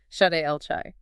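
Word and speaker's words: שדי אל חי: Pronounced Shaddai El Chai.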